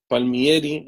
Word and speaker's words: Palmieri: Emerson Palmieri Palmieri.